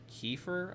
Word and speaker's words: kefir: I also bought um kefir, I think is how it's pronounced. I was mispronouncing it. My mom corrected me earlier.